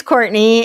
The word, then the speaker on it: Courtenay: it is it just Courtney or courtin it's Courtney it's spelled like couron but yeah it's Courtney oh okay I was about to say it's very fancy couron yeah it's the French spelling so okay Courtney uh